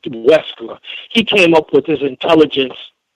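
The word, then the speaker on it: Wechsler: It's spelled Wechler, something like Wexler.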